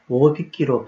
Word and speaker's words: 大引き: 오빗기의 오는 장음이라서 오빗기로 발음해야 원칙입니다.